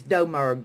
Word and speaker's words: Domerg: Nobody says it right. It took my mama years to say it right, and I was married to that son of a gun for 12 years. But it's Domerg. The U is silent. It's okay.